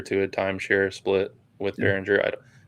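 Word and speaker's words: Beringer: Behringer is how you say his last name, but I forget how you say his first name.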